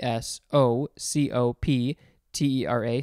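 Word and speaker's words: Psocoptera: the order name is sacoptera which is spelled with a p p s o c o p t e r a socoptera and the genus liposcalis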